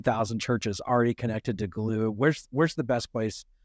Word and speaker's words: Gloo: not get in that doorway so glue and glue is spelled gl-o-o for those who don't know a